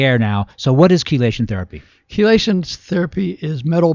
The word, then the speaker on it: chelation: Chelation therapy, right? Chelation is spelled with a CHE, like chemistry. It's a hard C.